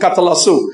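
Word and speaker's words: καταλλάσσω: The second one is katalazo. Now, pay attention, this is important, all right? Now, it's spelled K-A-T-A. Double L A double S O K H T A double L A double S O Catalasso.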